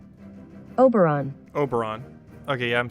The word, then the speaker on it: Oberon: let's see i wonder if would you say aberon hello google how do you say operon uh google uh now i do not want to sign into google oberon pronunciation oberon oberon okay yeah i'm saying it pretty incorrectly